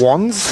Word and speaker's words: Wands: Do we pronounce it Wands or Wans? Wands. Wands it is.